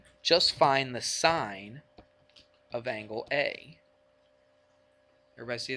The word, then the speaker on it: sin: of saying the word sinus i n e of a we just put s-i-n now it looks like you would pronounce it sin but we don't say that we say It's The Sign we still say it's